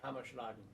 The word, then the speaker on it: Hammerschlagen: We're having Hammerschlagen Am I pronouncing that right? Hammerschlagen.